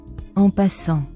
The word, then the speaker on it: en passant: En is not on, it's in. In en en passant, in passing. I think. Let's see. En passant. All right, so en passant is correct. The pronunciation is correct.